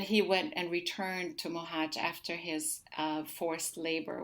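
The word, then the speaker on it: Mohács: this little town where i was born it's pronounced mohache um it's in the southern part of hungary and um and and and then he went and returned to muhaj after his uh forced labor which is what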